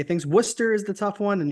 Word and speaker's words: Worcester: with should be fun is that how you pronounce that Worcester yep Worcester yeah I won't lie I won't lie to you when I first got in the league thought it was Worchester good thing we didn't